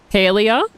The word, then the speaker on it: Palia: PALIA rather than PALIA.